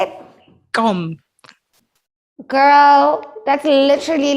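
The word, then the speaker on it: gqom: you say it how did you say it gum girl that's literally like if you don't say nothing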